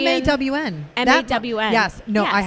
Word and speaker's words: Mon: So it's not like rhyme with John or anything like that. It's the Oh, Cambodian. MAWN.